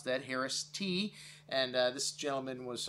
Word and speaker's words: Haraszthy: winery the founding father of california viticulture augustine harris t yes that's how you pronounce that harris t and uh this gentleman was uh an innovator